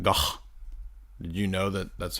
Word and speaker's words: van Gogh: Vincent van Gogh. Did you know that that's how you're supposed to pronounce it?